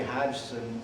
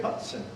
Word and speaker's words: Hodgson: The G is silent. They don't say Hodgson in England. They would say Hudson."